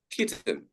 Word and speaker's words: kitten: But then if we see a double consonant before the E, then it is not pronounced as I. The letter I becomes E, such as bitten or kitten.